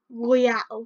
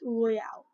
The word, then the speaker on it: Royale: For a Destiny Knot, go to the Battle Royale, not Royal. It's Royale.